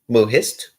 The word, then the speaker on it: Mohist: Yes, Mohist.